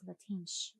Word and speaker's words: Latinx: College Art Association, and he said the correct pronunciation was Latinx.